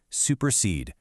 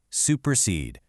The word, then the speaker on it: supersede: And finally the anapest, two unaccented followed by one accented, supersede, supersede.